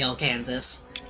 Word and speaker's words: Arkansas: Kansas and Arkansas are named after a tribe, but Arkansas is the one that pronounces it closer to the actual tribe name.